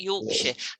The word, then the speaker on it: Yorkshire: a few things now you know how to do shire isn't shy but sure like yorkshire a lot lots and lots there's yorkshire there's hampshire there's um i don't know devonshire all of these things have a sheer sound now promise me you're